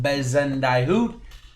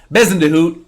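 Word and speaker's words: Bezuidenhout: a euro golfer christiane bezendai hoot that's probably not how you say it bison to hoot uh is probably a little bit better there uh he is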